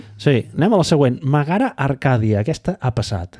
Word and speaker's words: Megara: Megara Arcadia, aquesta ha passat. Megara. Què he dit? És Megara. Megara. Ja veieu que no pronuncio gaire bé.